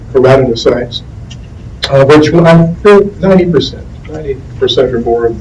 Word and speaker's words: keratinocytes: That's variously pronounced. I prefer the term keratinocytes, which 90% or more